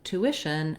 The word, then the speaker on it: tuition: so first of all the word tuition has second syllable stress so the stress is on the e syllable which is the